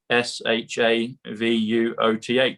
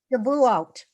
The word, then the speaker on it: Shavuot: It comes to sovereign, comes to trump card, and it comes to SHAVUOTH. And I can't pronounce it properly yet, but it comes to the book that Roseanne shared with us at the beginning.